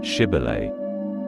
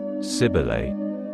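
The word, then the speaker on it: Shibboleth: said no they would tell him to say shibil if he said siel because he could not make his mouth pronounce it right they took hold of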